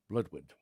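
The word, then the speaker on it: Blodeuwedd: next story is Broadway which is spelled bloody wed but it's um bloodwood a long time ago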